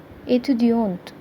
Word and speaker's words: étudiante: To make it feminine, we will put an E at the end of the word. Then it will be pronounced as étudiante.